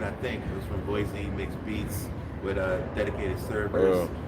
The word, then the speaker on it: Boise: Sorry, I pronounced it correctly. Boise. That's how they pronounce it. Boise.